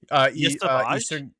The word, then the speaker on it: Yesavage: Is that really how it's pronounced? Yeah. Yesavage? Eastern Carolina. Damn. All right. I've had that wrong in my head for years. Trey Yesavage, who is a pitcher who has injury issues